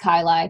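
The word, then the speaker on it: chyli: lymphatic ducts so there's something called the CNA kyai um or chaii it's pronounced kyi technically uh this is an expanded chamber that's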